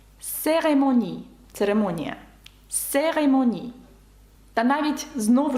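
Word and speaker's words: cérémonie: і ну і ю яке наприкінці ви бачите читається к с серемоні церемонія серемоні та навіть знову ж таки наша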